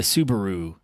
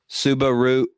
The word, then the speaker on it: Subaru: freaking Aaron's new car the Subaru Soubirous who is actually how it's pronounced oh sorry aren't they